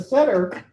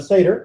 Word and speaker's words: Seder: But the Seder, or the Seder, depending upon your Ashkenazic or Sephardi pronunciation, the Seder is actually a little weird because this isn't the mitzvah, right?